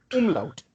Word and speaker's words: umlaut: Okay, as you can see, those 2 dots, and these 2 dots they are called Umlaut. umlaut. Exactly, exactly, and that's exactly how it is pronounced in German.